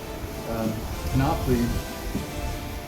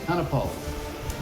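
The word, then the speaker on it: Kaanapali: It was a little cooler than what I'm used to at Canopy. Or Kanapali. I always pronounce it wrong. It's Kanapali.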